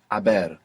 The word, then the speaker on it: haber: gone, in Spanish it's haber. Haber, H-A-B-E-R. And of course we have the silent H there in haber.